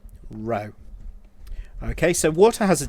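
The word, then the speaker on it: ρ: and we write the the symbol row pronounced like that row okay so water has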